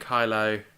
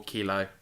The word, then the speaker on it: Kylo: So anyway, you got the Knights of Ren and Kylo, or Kilo, depending on how you pronounce it, heading to Endor.